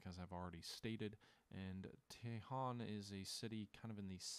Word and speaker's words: Daejeon: The Battle of Daejeon, or Daejeon, it's Taejon.